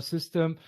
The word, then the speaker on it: Systeme: it's actually system, like the normal spelling, the normal saying of system, but it's just the French spelling.